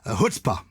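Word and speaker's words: chutzpah: speaking of comedians um hutzpah is a familiar one is wonderful and it's spelt slightly differently i suppose to how you might imagine so it's c-h-u-t-z-p-a-h and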